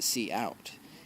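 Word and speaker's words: cout: properly to the stream see out see out pronounced see out is the name of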